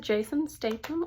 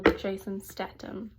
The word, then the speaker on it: Jason Statham: Oh gosh, is it Jason Statham or Jason Statham, or I don't know.